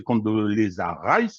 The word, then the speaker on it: Condoleezza Rice: Madeleine Albright, aujourd'hui décédée, qui est une criminelle de guerre notoire, en était une des dirigeantes, et aujourd'hui c'est Condoleezza Rice, c'est comme ça que ça se prononce, qui a participé à l'agression de l'Ukraine, également criminelle de guerre, qui le dirige aujourd'hui.